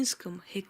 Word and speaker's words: Hecate: patronize their generation their children So I will pronounce her name in Latin x Kate How it should actually sound but the word